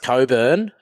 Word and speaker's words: Cockburn: the suburb down it's it's pronounced Coburn but I think it's spelled cockburn that is correct yep